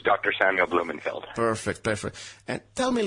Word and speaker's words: Blumenfeld: Samuel Blumenfeld.